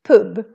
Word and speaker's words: pub: here we pronounce it poop so it's pronounced like a short u even if it's just one consonant coming after and this happens very